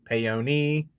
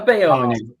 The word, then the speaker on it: Paone: here in the bottom box, Paone, Paoni, Pony, Whatever. whatever, Paoni, I'm a Paone.